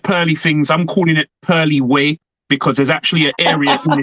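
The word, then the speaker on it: Purley Way: outside of London called Pearly Way. So that's Really? how I'm going to. Yeah, yeah. But it's not spelled pearl. It's spelled like Purley. So it's called Pearly Way.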